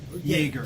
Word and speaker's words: Yaeger: Yes, and is that how you pronounce it? Yaeger? Yaeger.